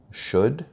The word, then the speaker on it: should: I never understood letters that weren't pronounced, like the letter L in the word would, could, should.